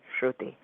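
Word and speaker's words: Shruti: first name s HR u t i shuy okay s HR u t wonderful I spell it with a dy I thought I heard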